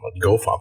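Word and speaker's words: gofmt: to the the the fum U well not fum G fump I should say um the I the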